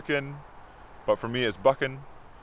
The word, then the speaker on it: Buchanan: wrong one it's pronounced boo CM and here is the correct way to say my last name cameron buckin so that is Cameron buckin